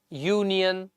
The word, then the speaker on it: union: would be y so although these words start with a vowel but the sound that comes of these words is of a consonant that's why we cannot